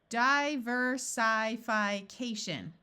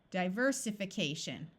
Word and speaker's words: diversification: doesn't sound quite right this is the prefix die so we will keep the long sound so the next syllable to check would be this eye let's change it from a long eye to a short eye diversification that still isn't a word so let's switch this to a short eye diversification there we go here's another another long